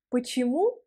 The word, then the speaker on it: почему: Il faut prononcer le premier O comme A parce que les O inaccentués, ils deviennent A en russe.